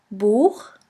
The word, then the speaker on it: Buch: After the letter A, O, U, and AU, it's pronounced like the guttural CH in the Scottish loch. Here we have the example of the word boek, which means book.